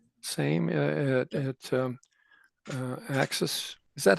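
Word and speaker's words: AXYS: That's the same same at um uh Axis. Is that how you pronounce it? It's pronounced Axis and it causes no end of confusion, but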